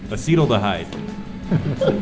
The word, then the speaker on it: acetaldehyde: How do you pronounce it? Acetaldehyde? Acetyl. Acetaldehyde.